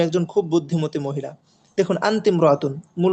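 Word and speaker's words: أنتِ امرأة: আনতমরাতুন জাকিয়াতুন জিদ্দান। তুমি একজন খুব মেধাবী মহিলা বা এখানে বুদ্ধিমতী শব্দটা ব্যবহার করতে পারি। তুমি একজন খুব বুদ্ধিমতী মহিলা। দেখুন আন্তিমরাতুন মূল উচ্চারণ ছিল কি?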